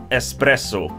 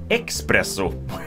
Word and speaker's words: espresso: in Swedish as well the problem is a lot of sweets pronounce this espresso which would mean that that's it's a very fast type of coffee Express oh coffee fast with that said we're